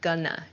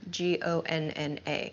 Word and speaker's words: gonna: Going to shortens to gonna, G-O-N-N-A, gonna. I'm gonna, I'm not gonna. This sounds much more natural, at least in American English.